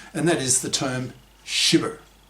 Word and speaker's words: SHyBber: that is the term SHyBber. That's capital S, capital H, little y, capital B, little b, er, pronounced SHyBber, that is a sexist, hypocritical bigot.